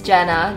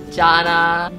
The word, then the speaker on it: Jana: to pronounce my name it's Jenna j a n a and uh I've been caught many things in my life Janna Gina Jina I think a tip